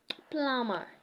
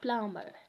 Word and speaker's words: plumber: not Thum it's Thum plumber instead of plumber yeah so that's now